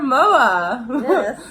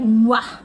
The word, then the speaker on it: MOA: short and it also sounds sort of like moi like I can't because emoji yeah but it's not pronounced what it's pronounced MOA yeah so we've been drifting together for a